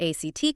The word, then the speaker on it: ACT: And that is exactly where ACT comes in, acceptance and commitment therapy. ACT, and they actually pronounce it act.